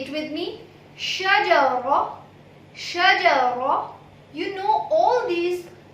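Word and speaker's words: شجرة: Shajara. Shajara. You know all these 3 words pronunciation. She, Jim, Ra. Shajara. Shajara. My lips are not owing while producing Ra. So, Shajara. Shajara. Without owing your lips.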